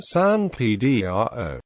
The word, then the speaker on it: San Pedro: The anglicized pronunciation, popularized by the English-speaking people of Midwestern America, San Pedro.